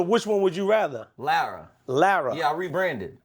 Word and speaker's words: Lara: Lara. Lara. Yeah, I rebranded. I used to say Lara, but then a girl told me you're saying it wrong.